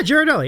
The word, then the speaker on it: Ghirardelli: The Ghirardelli. Did I pronounce that properly? Yeah, Ghirardelli.